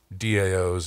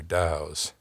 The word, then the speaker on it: DAO: interesting and advantageous about daos or dows I don't I kind of like the Dow pronunciation because it has this vaguely oriental wisdom sound to it you know